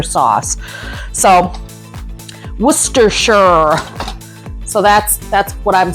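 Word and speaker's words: Worcestershire: I heard somebody say he was from England and that's how you pronounce it is worester sauce. So worcershure.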